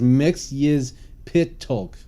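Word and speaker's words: Mxyzptlk: types of funny characters like in Superman Mr mixopita Lake yeah there you go um so yeah I mean it's just you know and Marty's actually saying that the correct pronunciation is mix is pit talk what didn't see his well that's part yeah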